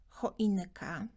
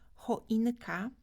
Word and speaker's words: choinka: dla wielu studentów wyraz choinka będzie dużo łatwiejszy do zapamiętania i do wymowy, jeśli skojarzysz go sobie z takim angielskim słowem choinka.